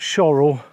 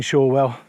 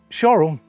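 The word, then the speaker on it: Shorwell: and she told me it's sure well not choral and it's always been shawwell so there you go just that some locals pronounce it shorel so it's either all well another half an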